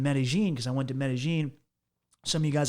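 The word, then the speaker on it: Medellín: Well, because the Paisas, which are people from Medellin, they pronounce their L's, which is a Y sound in Spanish, with a J sound. So they refer to it as Medellin, and I just through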